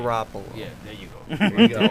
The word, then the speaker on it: Garoppolo: They're not going, the other dude, Jimmy, I'm not even going to try and pronounce his last name. Garoppolo.